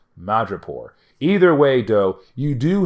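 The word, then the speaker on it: Madripoor: mutants out of madrapor I just said mod report oh my God I just mispronounced madrapore either way though you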